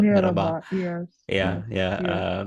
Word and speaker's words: merhaba: And I heard that Turkish more like to say merhaba, not mehaba, but merhaba.